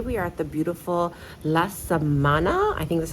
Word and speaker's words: La Samanna: I'm so happy that you guys are joining us today.Today we are at the beautiful La Samanna, I think thats how you pronounce it?